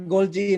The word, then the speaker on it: Golgi: You pronounce that Golgi, not Golgi, huh?